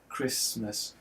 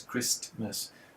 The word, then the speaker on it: Christmas: I mean, take the word Christmas there's a T in the middle there that we no longer pronounce. I don't think anyone says Christmas. It's just too hard.